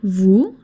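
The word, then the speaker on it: vous: Vu has only one syllable and this syllable is pronounced vu o u equals u and the s is silent.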